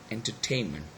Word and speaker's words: entertainment: So when the suffix was added to it, and it becomes what? Entertainment. So we still have two syllables, two stress syllables, n in this tain. Okay, so what happens is that actually the tain, the last syllable, is actually a strong stress.